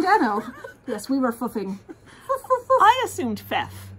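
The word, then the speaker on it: Phoef: remember from it is how to pronounce Fief, because it's spelt P-H-O-E-F, like Phoebe, but with F on the end. So yes, we were going around going, foof, foof. No, it's foof.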